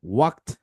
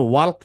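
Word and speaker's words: walk: এই জন্য ওয়াল্ক না পড়ে আমাদের পড়তে হবে ওয়াক।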